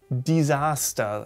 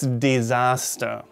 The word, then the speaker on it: Desaster: Many people wrongly say disaster, though. Das Desaster. Oh, es ist ein Desaster. It's a disaster. But the correct standard German pronunciation should be das Desaster. Das Desaster, not das Disaster, but the Desaster. Not die, but de. Not die, but de. Das Desaster.